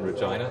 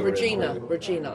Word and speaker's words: Regina: Regina, I call it. Regina. Regina. Yeah, except that it's not. The town, the name that rhymes with fun.